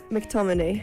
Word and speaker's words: McTominay: McTominay.